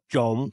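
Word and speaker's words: trộm: You say chon or chom. Chom Means to steal. Chon means to mix. sounds the same to me. Phonetically, chom and chom, to chom nhau and to steal. Oh, that's why. Chon is T-R-O-N. Chom is T-R-O-M.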